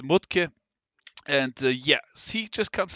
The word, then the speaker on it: Mudtke: I have ever seen his name is matki or if you want to pronounce him in his German original it's mut and yeah see just